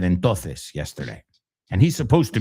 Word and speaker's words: entonces: Entonces. It's not entonces. Que yo sepa, pronunciáis todas las letras, ¿no? Entonces sería entonces.